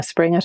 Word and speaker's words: Springett: It's just Springett, all lowercase. Springett, for those of you who are curious, is spelled spring as in the season with E-double-T on the end.